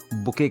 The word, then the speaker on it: bouquet: Flowers के collection को, गुलदस्ते को बुके कहा जाता है। इसमें स्पेलिंग का ध्यान रखिएगा, इट्स BOUQUET। साउंड कर रहा है बुकेट से, लेकिन इसे बुके कहा जाता है, ये बात ध्यान रखिएगा।